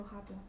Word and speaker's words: habla: El abuelo de Carmen mira la foto, no habla. Good. And the H is silent.